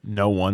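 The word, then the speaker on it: Noone: daughter, but she's fallen in love with Eric No One which is Noon just n o o n e.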